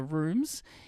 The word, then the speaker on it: RVMES: the band name because it is pronounced rooms but spelled RV Mes.